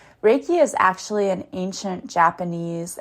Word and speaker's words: Reiki: It's always funny whenever you first talk to people because they'll say Reiki you know they mispronounce it. Raiki is actually an ancient